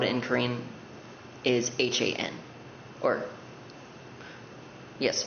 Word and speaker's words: Han: spelled in Korean is H-A-N, or yes, it's H-A-N, kind of like Han from Stray Kids.